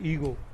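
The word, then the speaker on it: ego: ठीक है ना, इसका प्रोनाउंसिएशन हमेशा याद रखना है, ईगो। ठीक है ना, ई पे स्ट्रेस करना है, गो, ईगो।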